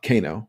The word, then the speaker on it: Kano: actual coin flip uh Kano for for those uncultured and don't know how to pronounce his name um but canoe um